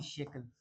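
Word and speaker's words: shackle: की स्पेलिंग बेटा ये नहीं होती शकल की स्पेलिंग होती है एस एच ए सी एल ई शकल ठीक है ना मैंने आपको याद कैसे करवाया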